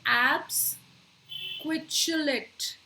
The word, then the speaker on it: absquatulate: तो एब्स क्विचुलेट. सो ये क्विचू जो है, QUATU, क्विचुलेट. क्विचू आगे लेट, सो एब्स क्विचुलेट. तो इसमें 3 सिलेबल्स हैं.